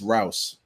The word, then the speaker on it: Rouse: It's Rouse.